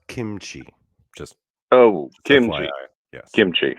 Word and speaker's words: kimchi: weird recipe for a camchi I think he called it uh sir it's pronounced kimchi just oh kimchi yes